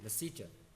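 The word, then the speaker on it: Lesetja: Lisette, how do I pronounce it? Sorry? Lasicha. Is that what it is? Okay, Lasicha.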